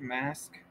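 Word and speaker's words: masque: to the reading uh I think it's pronounced mask the the title is uh the m s qu e of the Red Death I believe it's mask it's just like an old way of saying mask it's yeah it's pronounced mask is probably a uh old way of writing it probably from Britain yeah good thing we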